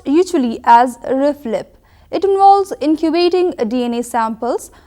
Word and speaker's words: RFLP: it's abbreviated as r f l p it's pronounced usually as reflib it involves incubating DNA samples with restriction enzymes